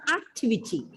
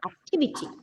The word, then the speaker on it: activity: two three activity right it's not activity normally we say activity it's activity activity the second last sorry not second last third last syllable is script so that